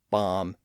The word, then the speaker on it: bomb: Those Bs are there because, again, there was once a B sound at the end of those words or in some part of the earlier version of those words. And in those cases, the Bs were once pronounced in the Middle Ages. But the evidence suggests that they were all silent by the early 1600s.